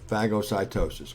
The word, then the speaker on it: phagocytosis: and drew a blank there yeah and it's pronounced uh phagocytosis which is unfortunately but that's that's what it is phagocytosis and it's a pretty cool process now all